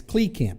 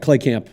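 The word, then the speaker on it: Kleekamp: I met uh it's plea Camp right coach Klee Camp uh right clay Camp is how we pronounce it yes okay right because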